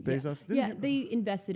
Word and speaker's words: Bezos: the way to pronounce his name. Bezos?